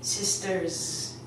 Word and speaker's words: sisters: We actually don't put an S sound on it, we put a Z sound. So I would say sisters.